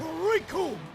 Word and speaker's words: Recoome: Recoome, and it rhymes with doom.